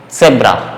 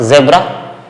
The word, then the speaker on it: Zebra: But the sound is different. With Z, sound is S. Okay. Set. Okay. Zebra. Not zebra. Zebra. Zebra. And with S, the sound is Z. Z, like zofa. Zofa. So reverse the sound. Z take the sound of S and S take the sound of Z.